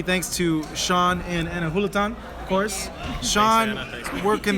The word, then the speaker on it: Julaton: It's Hulatan. Yes. Tell him. Thank you. It's Hulatan. Anna Hulatan. Hula-tin. Pretty easy. J is pronounced as an H.